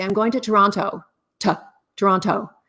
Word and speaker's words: Toronto: how to pronounce it it's Toronto you don't say the T if you're Canadian a yeah it's Toronto